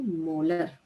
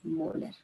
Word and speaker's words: मोलर: और एम को प्रोनाउंस करते हैं मोलर. Okay, it is pronounced as मोलर.